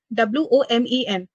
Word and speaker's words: women: thing i will tell you where this word w-o-m-e-n there are two words w-o-m-a-n and w-o-m-e-n the